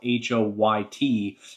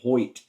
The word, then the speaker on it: Hoyt: that he saw Hoy, his name is spelled Hoyt, but I think it's pronounced Hoy. So it's hard not to say Hoyt when you read it, but basically, Earp told